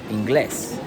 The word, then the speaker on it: inglés: Inglés, right? So Inglés means English, right? English. You say it. You say it like this, right? English. But in Spanish we don't say English. We say Inglés, right?